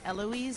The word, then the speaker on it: Heloise: It's actually Heloise. Heloise. Savoir Faire. Is the H silent then? Yeah, it's okay. My mother. It's a French name.